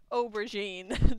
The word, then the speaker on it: aubergine: helped Hold On Shut Up me over oh aubergine aubergine aubergine it's an eggplant Miss look I was looking at very important information shut up aubergine that's how you say it we hit everything